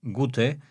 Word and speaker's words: Gote: Otra teoría sostiene que procede también del alemán Gote, G-O-T-E, Godo, que se pronuncia como Gute, a diferencia de Got, que es Gat.